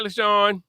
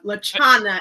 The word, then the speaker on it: Lachauna: Hi, Lachauna. Hi, you said it wrong though. Lachauna. Lachauna, oh God, I swore I had it right.